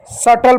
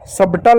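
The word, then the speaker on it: subtle: एस का स पढ़ेंगे यू साइलेंट होगा। ठीक बी भी साइलेंट होगा। टी का ट एल का ल इ किसी भी शब्द का है तो भी साइलेंट होगा तो होगा सटल। सबटल नहीं सटल।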